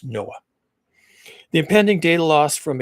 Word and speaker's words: NOAA: Uh that's NOAA, which we pronounce Noah.